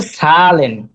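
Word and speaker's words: Zahlen: এটা হচ্ছে সবসময় ছয়ের মতো উচ্চারণ হবে বেশিরভাগ সময়। সেট। জি, সেট। যেমন হচ্ছে সালেন, সালেন অর্থ হচ্ছে নাম্বার, সেট AHLAN, সালেন।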